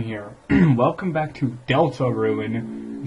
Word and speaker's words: Deltarune: and welcome back to Delta ruin not delicate room I've been saying it wrong this whole damn time god that music is